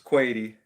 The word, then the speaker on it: Kuwaiti: just the nickname crazy kuwaiti it's quaity some people like most people will probably think it's quality but it's crazy quality it rhymes allen are tornadoes a